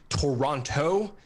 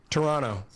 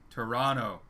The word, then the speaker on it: Toronto: and so forth yeah the second t it's silent just trust me on that one yeah yeah yeah so